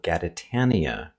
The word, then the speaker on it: Gaditania: This whole southern region is called Gaditania, pronounced like Britannia, and the people who live there are called Gaditanos.